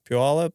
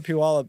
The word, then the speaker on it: Puyallup: Grew up was born in Washington, Puyallup, and then I'm from Washington. But right. Not from. If you know where Puyallup is, then I know you're from Washington.